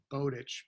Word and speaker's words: Bowditch: mispronounced as far as Mike's last name I pronounce it Bowditch because I I saw it written before I